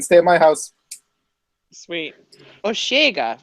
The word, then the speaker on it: Osheaga: god Oh cam oh I think you pronounce it osheaga osheaga yes it is that all right august though it's it's osheaga but it's fine august third